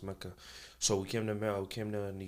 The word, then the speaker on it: Mecca: I did my middle school because I finished elementary in Saudi Arabia, in Mecca, the city Mecca, or Mecca, as it's actually pronounced Mecca.